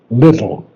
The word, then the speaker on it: little: I don't like little little little little T pronounce the t's little little okay yes yes that's it it's not little that's poor English so it's should be